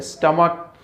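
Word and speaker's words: stomach: ठीक है, लेकिन अगर ch का प्रोनाउंसिएशन अगर k के जैसा हो, ठीक है, तो उस वक्त हम क्या करें, जैसे कि यहाँ पर जो वर्ड है हमारे पास में वो है स्टमक, तो यहाँ पर जब हम प्रोनाउंस करते हैं इसको तो स्टमक के लास्ट में प्रोनाउंस हो रहा है, सी एच में च इसका प्रोनाउंसिएशन नहीं हो रहा है, ठीक है।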